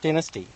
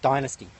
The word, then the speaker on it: Dynasty: From a Kiss album called Dynasty. Or if you're in America, they say Dynasty. So yes, but it depends on if you're Australian or American how you say it.